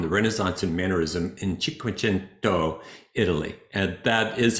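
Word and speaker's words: Cinquecento: Welcome to chapter 22 on the Renaissance and mannerism in Chikuento, Italy. And that is how it's pronounced. It really sounds like you're speaking Italian when you say it.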